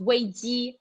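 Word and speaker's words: 危机: In Chinese, the word crisis, it's pronounced wei ji.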